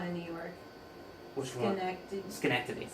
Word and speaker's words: Schenectady: How do you pronounce that town in New York? Which one? Schenectady. Schenectady.